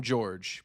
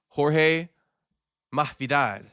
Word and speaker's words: Jorge Masvidal: Almost called him George, but correctly pronounced Jorge Masvidal. How you guys like that? Jorge Masvidal. That's how he really says it.